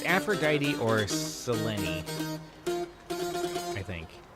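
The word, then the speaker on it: Selene: But no, it's Aphrodite or Seleni, I think. I keep wanting to say Seline because it looks like that, but I it's pronounced differently here.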